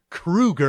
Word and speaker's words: Kroeger: So Kroeger, think of shoe, SHOE, that's KROE. Kroeger.